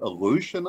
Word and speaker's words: Aleutian: Is it the Aleutian Islands? Is that how that's pronounced? Yep.